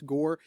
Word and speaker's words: Gor: the Geo are novels gore kind of like how tour is spelled but it's gore and in those novels